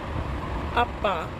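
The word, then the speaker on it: 아빠: हो सकता है आपको ये लगे कि जब हम इसे प्रोनाउंस करते हैं तो हमें डबल पा की आवाज़ आ रही है, आधा पा और पूरा पा। तो अगर आपको ऐसा लगता है तो एक्चुअल में प्रोनाउंसिएशन ऐसी है इसकी, ठीक है।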